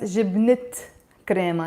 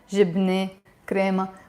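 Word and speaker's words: جبنة كريمة: The t is usually silent. But whenever I put another noun next to it, we pronounce it. So it becomes jibnet crema, not jibne crema.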